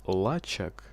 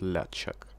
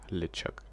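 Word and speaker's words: LeChuck: Почему-то в субтитрах всегда пишут Лачак, но по факту произносят Лячак. Ну, не прям ля, а как-то там более мягче. Типа Лечак. Вот, да, вот примерно так, скорее Лечак. Что-то между ле и ля, в общем.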